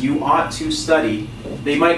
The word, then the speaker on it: oughta: Okay, so oughta is ought to.